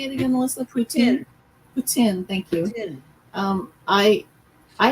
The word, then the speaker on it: poutine: sweetie how do you say it again Melissa poutine thank you um I I had it because